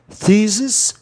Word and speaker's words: thesis: Thesis, thesis, duas sílabas ou consoante no meio, o E tem um som de I.